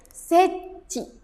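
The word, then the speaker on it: 設置: Jadi dibacanya seci. Ini dibacanya ci ya. Karena ini kanji ketemu sama kanji. Kalau kanji ketemu kanji, kanji ini dibacanya ci seci sure.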